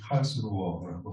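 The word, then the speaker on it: Karlsruhe: 지난 9일간 8월 말 초 9일간 카를스루에에서 11차 총회가 열렸는데요. 독일 본토 발음이 칼스루어라고 하더라고요.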